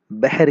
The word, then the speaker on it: بحر: بحر ہے۔ ٹھیک ہے، بحر عربی زبان کا لفظ ہے، اسے اردو تلفظ میں اگر ہم دیکھیں تو ہم اسے بحر کہتے ہیں، تھوڑا سا اسے مجہول ادا کرتے ہیں۔ جیسے محسوس ایک لفظ